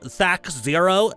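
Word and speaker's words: THAC0: I haven't heard someone say it's actually pronounced Thac Zero in decades. Ah, the memories. Yeah, it was Thac Zero back in the old school days, but we just call it Thaco because screw it.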